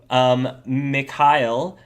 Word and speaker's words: Mekael: How do you pronounce it? Mekael.